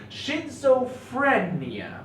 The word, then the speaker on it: schizophrenia: Schizophrenia. Okay, it's not prenia, it's phrenia.